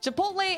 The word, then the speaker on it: chipotle: That's pronounced Chipotle." Chipotle and quinoa.